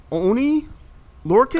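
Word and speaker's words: Oney Lorcan: be known as, let me see if I'm pronouncing this right, Dale. Is it Oni Lorcan?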